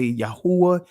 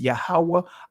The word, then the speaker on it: Yahawah: I am yahawah alah some of you guys would say Yahweh Elohim and others would say Yahweh Elohim the ancient pronunciation is yahawah alayam and hey I'm not